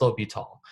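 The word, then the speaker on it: L'Hôpital: of it down because when you look at the name it does look like the hospital that's not what it is it's low be tall but it's a rule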